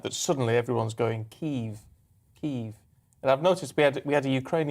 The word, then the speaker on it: Kyiv: The Russian is Kiev. It's Kyiv. Kyiv. Yeah. Kyiv.